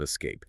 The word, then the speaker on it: escape: It is a two-syllable word, and I want the listener to place the emphasis or the stress heavily on the second syllable. Okay, lay it on us. Let's listen closely. Escape. Notice how the first part is very soft, almost swallowed, and the second part is sharp.